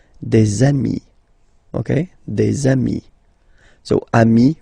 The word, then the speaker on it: amis: Okay, and if you make the liaison, so the link between the two, you will get des amis.